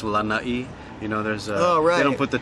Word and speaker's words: Lanai: Yes, a lot of people don't put the two together, but I guess because it's pronounced Lanai, there's they don't put the two together.